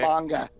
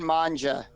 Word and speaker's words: manga: manga, It's pronounced okay. manga. Whatever. I heard manja.